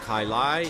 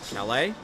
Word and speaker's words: Calais: It is not Kailai, it is Calais.